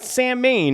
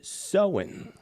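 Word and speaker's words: Samhain: pronounced as SE like sewing a needle not samine as it's spelled out it's spelled s m ha a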